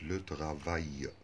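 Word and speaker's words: travail: أي كلمة آخرها أي أل والتلاتة على بعض يتنطقوا أي، زي كلمة لوتغافاي العمل تبقى مذكر.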